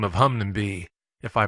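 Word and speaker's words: Hunmanby: close to flicks tin by the name of Hungnam be if I pronounced it right hopefully that is in the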